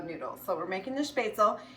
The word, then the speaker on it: Spaetzle: And yes, it is pronounced Spaetzle, and that is a small little noodle that you will make in Germany.